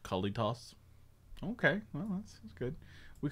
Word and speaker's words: Kalitas: i guess you will i think it's kalitas right a little regular i pronounced it kalitos okay well that's good